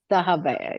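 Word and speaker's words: Dahabiya: Let me see if I say it right. Dahaba. Dahaba. Yes. Yes.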